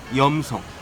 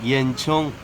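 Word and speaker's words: 盐城: 소금염자를 도심형으로 쓰는 곳 염성 중국식 발음으론 옌청 바로 소금 도시입니다 인근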